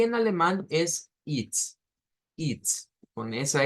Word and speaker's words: ist: Bueno, es y esto que lo vamos a pronunciar como it's.